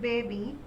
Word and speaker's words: baby: How do you pronounce it? Baby. So it is not Y but E sound. Short E.